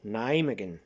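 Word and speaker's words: Nijmegen: video of nai naimagin they call it name again name again that's how they pronounce it um in netherlands and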